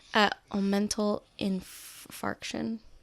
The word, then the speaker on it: omental infarction: And they discovered that I had I'm probably going to say this wrong, so you might know how to pronounce this better than I do. Omental infarction.